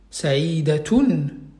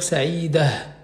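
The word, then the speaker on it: سعيدة: cette Tamar Bota, ben, on ne va pas prononcer le T, on va prononcer le H. Par exemple, on va dire par exemple, Saïda, Saïdatoun. Quand je vais m'arrêter sur ça, je vais dire Saïda, Saïda.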